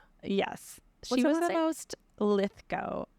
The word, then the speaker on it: Lithgow: She was the most Lithgow. Lythgo. Like what's his face? I think I'm saying it right, but John Lithgow.